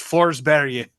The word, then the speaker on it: Forsberg: It's Forsberg.